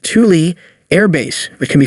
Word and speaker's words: Thule: northern military installation is the Thule pronounced Thule Air Base which can